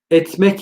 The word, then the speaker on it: etmek: Etmek kelimesi. Eder, ider diye yazılır. Etti, itti diye yazılır. İtmek, etmek diye okunur.